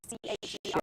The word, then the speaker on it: Cher: Cher, C-H-E-R.